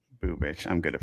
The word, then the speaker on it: Bubic: Bubich. Bubich. I'm good at pronouncing names.